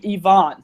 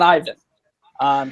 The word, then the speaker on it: Ivan: I also want to mention that my halfback apparently pronounces his name Yvonne, so it's Yvonne Sanchez, not Ivan.